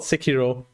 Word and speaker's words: Sekiro: Oh yeah, also, I don't know if you were around, but I figured out it's called Sekiro. It's not anything else. I figured out what it's pronounced, so I have half an hour of redeemable time at some point.